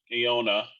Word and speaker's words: Ynoa: will start probably oscar iona uh that's how you say his name ynoa um he was one